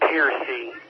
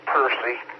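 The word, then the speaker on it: Pearcy: I was trying to tell you that's Piercy, or Piercy. That's what it's pronounced in Garland County.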